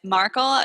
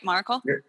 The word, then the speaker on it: Maracle: I'm sorry that it's marle is that right maracle maracle maracle I said it like Miracle I'm sorry it's okay